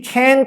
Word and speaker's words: can't: 하지만 부정을 나타내는 can't 같은 경우에는 실제로 외국인들이 he can't swim 이런 식으로 천천히 얘기해 주거나 t라는 발음을 강하게 해주진 않고 he can't swim 이런 식으로 can't라고 하는 것을 길게 꺼내서 길게 느려서 보통 발음을 해주더라고요.